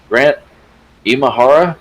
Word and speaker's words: Grant Imahara: Lucasfilm and Mythbusters roboticist Grant Imahara, is that how you pronounce his name?